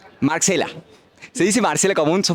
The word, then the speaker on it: Marxela: Marcela. Se dice Marcela común, sos Marcela con X. Se dice Marcela común con E, se pronuncia igual.